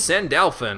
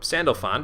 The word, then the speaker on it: Sandalphon: there we can now fuse sand elfin or Sandalphon depending on your pronunciation though most powerful moon